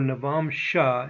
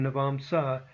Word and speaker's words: Navamsa: By the way, you may hear Rashi as opposed to Rasi, or Navamsha instead of Navamsa. You'll hear both pronunciations.